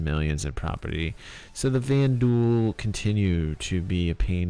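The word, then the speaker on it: Vanduul: The Vandal attack Bolo. So the VanDuel, sorry, the Vanuel, not the Vandal. It's easy for me to say that, but actually pronounce it Van Duel.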